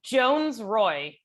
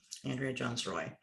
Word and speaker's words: Jones-Rooy: It's Jones-Rooy. So as though there's only one O in the Roy. Okay. Yeah. Andrea Jones-Rooy.